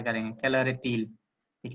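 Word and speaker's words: est-il: मतलब है, ठीक है, इसको तिल क्यों बोल रहे हैं, इसको कैलर ए ईल क्यों नहीं बोल रहे हैं, तो जब भी मैंने बताया आपको हाइफन लग जाएगा तो टी को हम इसके साथ प्रोनाउंस करते हैं, तो हम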